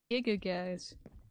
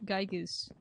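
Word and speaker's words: Giygas: Ness needs your help, fighting the evil forces of Gigagas. Which is someone horribly mispronouncing Gygas. What? What did they pronounce it as? Gigagas.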